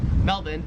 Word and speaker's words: Melbourne: it wouldn't matter, because the Australian accent just leaves the R off if it's ever in the last syllable of a word. So you would pronounce Melbourne, Melbourne, and you would pronounce Cairns, Cairns.